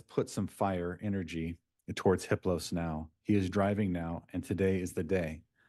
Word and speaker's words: Hiplos: "His name is Hiplos. The H is silent.